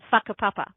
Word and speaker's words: whakapapa: And yes, you say that whakapapa, by the way. That's how any WH in Māori is pronounced like an F.